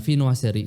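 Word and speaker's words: viennoiserie: Ee e sedikit aku jelasin tentang vinoa seri. Dibacanya Vinoa. Vinoa seri.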